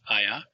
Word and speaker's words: haya: which is shown on the bottom left, H-A-Y-A, pronounced aya, ayas, aya, ayamos, and ayan.